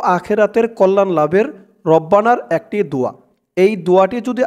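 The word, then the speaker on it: ربنا: রব্বানা, রবা জবর রব, বা জবর বা, রব্বা, রব্বা, নুন আলিফ জবর না, রব্বানা।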